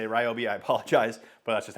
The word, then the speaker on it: Ryobi: is the new lineup from Ryobi or riobe however you say I always say Ryobi um because my dog's name is Riley with spelled with a r y and it's riy so uh but I think properly I know on some of their marketing material they say riob so whatever it is if